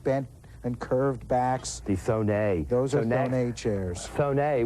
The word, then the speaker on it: Thonet: Thonet, or some people call him Thonet. A Thonet bentwood chair, if you've ever heard that. It's actually pronounced Thonet.